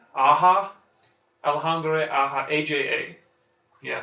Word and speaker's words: Aja: Anna how do you say aha alejandre aha Aja yeah say AA ah ah take anyway uh